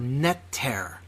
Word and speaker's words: neter: All right, natural comes from the Egyptian word netter, N-T-R, if we are translating it out of Old Coptic Egyptian.